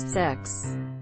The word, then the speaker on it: CeX: walls and stuff unprotected cex Adam use the electronics games retailer whose name is pronounces sex I miss cex excellent